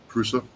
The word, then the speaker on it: Prusa: Yeah, I got a how do you pronounce that? A Pursue, a Pursa. Prusa, yeah.